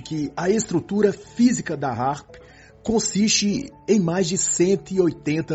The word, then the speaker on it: HAARP: o título do livro A palavra harp e Harpa no inglês americano possuem pronúncias similares assim quando se fala